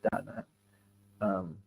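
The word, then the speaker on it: Đà Nẵng: And in Vietnamese it is Da Nang. But when you're speaking English, you can anglicize. There's nothing wrong with that. But also understand you won't be understood because you're pronouncing it in the English style.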